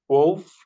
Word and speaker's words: wolf: wolf, Wolf.